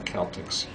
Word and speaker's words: Celtic: We don't have a soft C in Irish or in Celtic actually.